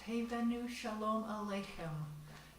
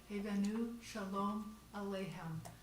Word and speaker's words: Hevenu Shalom Aleichem: It's pronounced Hevenu Shalom Aleichem. Hevenu Shalom Aleichem.